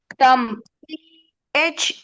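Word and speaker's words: thumb: next one எஸ் தம்ச யூ எம் பி நாட் தம் இட்ஸ் தம் பி சத்தம் வராது தம் தட்ஸ்ைசி எல் ஐ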